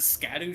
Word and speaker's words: Scadu: Excuse me, that's a Scadu tree? It's apparently an old English pronunciation of shadow. Oh, that's so cool. I love that. Like, I love that. That was not a bit. That was actually apparently the real way to say it.